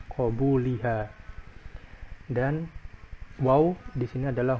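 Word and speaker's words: قَبُولِهَا: Ingat ini adalah bacanya adalah qo dengan fathah qobuliha dan wau di sini adalah huruf atof.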